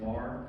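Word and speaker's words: Meagher: pronounced Mar.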